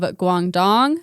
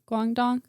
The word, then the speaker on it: Guangdong: xi yang in 1775 in the province of guangdong is how you say it guangdong in china we know very very little about